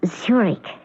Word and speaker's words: Zurich: That's pronounced Zurich, as in the Swiss city.